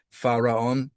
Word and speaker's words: Fa Ra On: And it's pronounced with a hard F again and a trilled R.